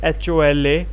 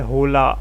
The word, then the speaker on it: hola: i heard uh hola it was written as hola and pronounced as o l a h was silent as i've already told